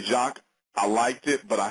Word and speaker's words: Jacque: name is Jacques. That's spelled Jacque.